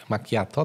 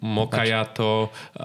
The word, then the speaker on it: macchiato: Jest chyba coś takiego jak macchiato, tak? Tak, jest. Dobrze wymawiam, tak? Tak. Czy... Chociaż ja bym się już nie śmiał, powiedziałbym ci wprost, jakbyś powiedział źle, bo słyszałem milion macchiato, mocajato, słyszałem espresso mojito, przeróżne wariacje.